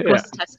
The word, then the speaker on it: Grosseteste: DrEAMSLab at the Bishop Grosseteste University, UK. I'm not sure if I pronounce the university name correctly. You did a very good job. We're called all sorts. Yeah, it's Bishop Grosseteste University.